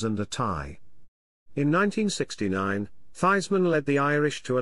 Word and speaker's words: Theismann: name was actually pronounced this man recounted in 2007 that it was not redeemed publicity man roger valdizzeri who insisted that he change the pronunciation of his name to rhyme with heisman but he finished second